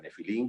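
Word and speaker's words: נפילים: en Génesis 6, que en hebreo se pronuncia nefilín, que quiere decir caídos,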